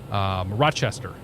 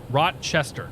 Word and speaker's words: Rochester: spelled oh my god Rochester Rochester no Rochester it's like almost like Rosh so it's like halfway between watch and rush Rochester you flew in